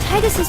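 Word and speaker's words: Tidus: Remember when we found out Titus's name is actually pronounced Titus, but I don't care,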